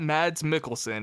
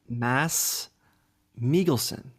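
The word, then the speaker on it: Mads Mikkelsen: say say it again for me it's not mads Mickelson it is what Mass melon okay this is what they say in Denmark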